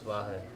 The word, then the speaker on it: Vahe: No, my name is Vahe. Vahe, V-A-H-E. Okay. Now it's easy to pronounce when you spell it.